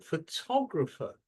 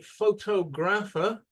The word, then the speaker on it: photographer: Photographer. Where's the strong part of the word? Second syllables. Okay. Now, if you say photographer like this, people will not know what you're talking about. But if you say photographer, then they will fully understand.